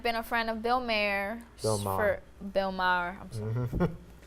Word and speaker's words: Maher: Bill Myers for years.